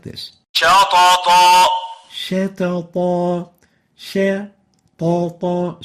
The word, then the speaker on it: شطط: شطط Shatata, shatata. So we don't velarize the sheen, yet we velarize the two letters following it.